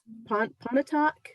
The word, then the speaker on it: Pontotoc: asked you this before how to say it pontotoc that's where my grandparents got married and then